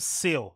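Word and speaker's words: Ceil: I think it's my girl called Seal, the DJ, online. I think that's how you pronounce her name. If it's not, I apologize. But I think it's pronounced like C-E-I-L, right?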